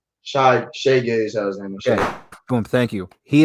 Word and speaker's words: Shai Gilgeous-Alexander: So Shai Gilgeous-Alexander, did I pronounce that right? Shai Gilgeous-Alexander.